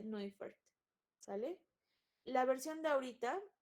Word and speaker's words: Neufert: Se escribe Neufert, pero como es alemán, se dice Neufert.